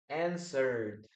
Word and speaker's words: answered: Okay, please don't pronounce the letter E. Okay, answer. Answered.